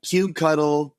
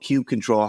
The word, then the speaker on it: kubectl: How do kubectl, kubectl, kubecontrol, how do you say it? I'm the one who's going kubectl, but I think I'm the only one because no one using it in my company like this.